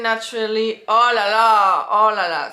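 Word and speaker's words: oh là là: said naturally oh la oh la la so pronounce it oh la la oh la la H H laa so that's the way you can pronounce it in French so you can use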